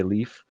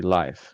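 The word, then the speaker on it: Leif: how to spell it I say Leaf but when I get to know someone better I tell them it's actually life and they're like oh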